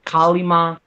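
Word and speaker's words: Kali Ma: It was Kalima, if I'm pronouncing it right. Kalima.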